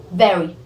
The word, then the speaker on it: very: In this word very, you need to touch your lower lip with your upper teeth. It's very.